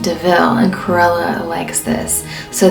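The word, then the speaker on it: de Vil: karela her last name deville will eventually come from a car that they steal and horus thinks that it's called a devil and then jasper lets him know that it's pronounced deville and cruella likes this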